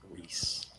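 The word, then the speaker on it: Rhys: name Rees r h Ys Reese what yeah you spell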